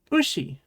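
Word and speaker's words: うし: Did you remember that it's she and not si? This is ushi.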